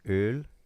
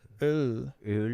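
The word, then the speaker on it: Öll: It's since kind of like German, it's Öl. Oh, It just has an Ö sound to it. Öl Breton.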